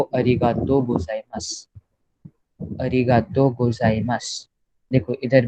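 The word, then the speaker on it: ございます: सो फिर ओहायो गोजाइमासु नहीं बोलते वो लोग इंस्टेड से ओहायो गोजाइमास.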